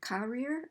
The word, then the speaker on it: career: Do you hear career or career? Right? Career. You're going to underline that second syllable.